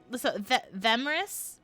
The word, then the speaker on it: Themris: Is it Themris? Do I pronounce the Okay. It's a ship name of Thana and Emrys. Oh! Oh. Thana and Emrys, so Themris.